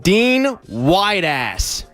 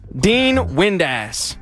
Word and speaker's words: Dean Windass: the name I'm going to give you is Dean Whiteass. Dean Whiteass. Are you pronounced? How is it spelled? Wood-ass or wide-ass? Windass. Dean Windass.